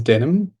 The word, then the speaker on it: Denim: bit about myself um my name is denim pronounced like the jeans I'm one of the